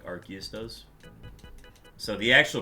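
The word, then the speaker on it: Arceus: it to get all the different types like archus does so the actual pronunciation is archus but I don't say that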